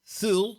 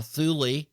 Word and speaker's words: Thule: become a thing well Ultima soo or Ultima Thule depending how you pronounce it it's an asteroid